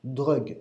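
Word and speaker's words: ДРУГГ: de l'enseignement de Grégory Grabovoi, et qui se prononce en russe DRUGG, D-R-U-G-G.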